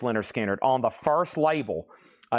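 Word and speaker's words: Lynyrd Skynyrd: Leonard Skannard, pronounced Leonard Skinnard on the first label, a 1973 OG original Sounds of the South label.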